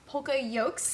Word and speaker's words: poka-yoke: PokaYokes, I believe it's pronounced, That's right?